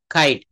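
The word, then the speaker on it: king: আসলে কি এটা কিং হবে? নো, এটা সঠিক উচ্চারণটা হবে খিং, খিং, খিং।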